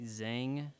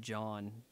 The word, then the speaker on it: Zhang: Um, TD Lei Zhang, Lei Lei Zhang. Zhang. I think that's actually pronounced John, but yeah.